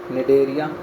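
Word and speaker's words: Cnidaria: निडरिया निरिया सी silent है उसका याद रहे।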